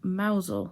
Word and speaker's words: Mousehole: and they are actually from Mazal which is spelt mousehole and it's in Cornwall and